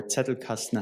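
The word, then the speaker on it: Zettelkasten: He wrote 70 books, 400 papers and developed this very famous Zetle casten system or Zetel casten, how you pronounce it in German, generating, you know, 300,000 citations to this date.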